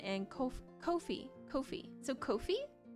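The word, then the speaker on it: Ko-fi: So Kofi like C O H F E E kind of like that or co as in like company co.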